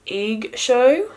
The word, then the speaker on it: EIGSHOW: products by the company egg show i believe that's how you pronounce it eig show cosmetics brushes